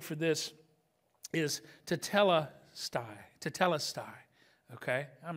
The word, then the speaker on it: tetelestai: like rj's going to go no you must pronounce that right so so tetelestai but this is kind of a cool thing